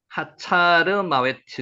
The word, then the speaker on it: 하살마웻: 하살마웻, 요거 한번 읽어볼까요? 하차르마웨트, 이렇게 읽혀집니까? 하차르마웨트.